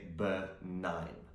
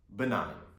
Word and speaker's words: benign: our list is benign so the g is silent we don't pronounce it we say benign benign now when something is